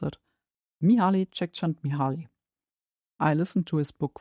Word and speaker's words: Mihaly Csikszentmihalyi: At the top of the list is, of course, quick Google to check how to spell it again and how to pronounce it, Mihaly Csikszentmihalyi.